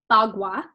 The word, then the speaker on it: Bagua: So it's pronounced Bagua, and this is the main tool used in Feng Shui.